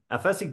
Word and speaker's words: Aphasic: Aphasic dream. Oh, well, okay. Aphasic. Aphasic. Well, Okay. Here's an sickness called es que aphasia. aphasia. Aphasia. It's like aphasic.